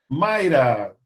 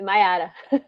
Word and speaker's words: Maiara: Mayra, pronunciei correto seu nome, Mayra? É Maiara.